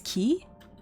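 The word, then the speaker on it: Quay: Wait, it's key. Queen's key. Wait, what? Why is it not like a K?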